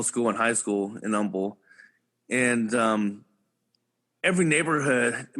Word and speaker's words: Humble: Middle School my mother moved me to uh Umble Texas uhuh Umble there we go and um a lot of people a lot of people pronounce that as humble but uh yeah yeah but it was always